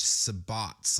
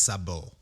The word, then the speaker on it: sabot: And if it's French, it's probably actually pronounced sabot.